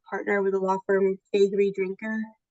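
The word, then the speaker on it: Faegre Drinker: I am a partner with the law firm Fagorree Drinker. No one ever knows how to say it and that's okay. This is how you remember. We are your favorite lawyers. Fagorree Drinker.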